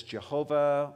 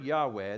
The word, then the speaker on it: Yahweh: in the Hebrew text the Hebrew word Yahweh that we'll pronounce as Jehovah or we'll say Yahweh the word Yahweh the name of God